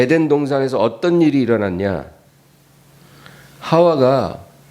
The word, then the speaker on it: 하와: 하와가, 이 하와라는 것은 히브리어로 말하는 발음이에요. 히브리 발음은 하와고 영어로 하면 이브라고 그래요. 근데 하와가 더 정확한 말이죠.